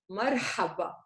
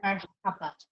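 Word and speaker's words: مرحبا: The 7 is in the middle of the word, which means there's a ha in the middle of the word. So how do you pronounce this? Marhaba. Okay? Marhaba. Marhaba.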